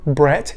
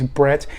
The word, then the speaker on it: Bratt: Jesper Bratt, and I apologize, I've been saying his name wrong before. I thought it was Brat, but the pronunciation guide is Bratt.